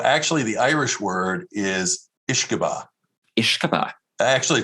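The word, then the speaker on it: uisce beatha: So actually, the Irish word is Ishkabah. Ishkabah. Actually, it's Ishkabaha is how they pronounce it in Ireland and Scotland.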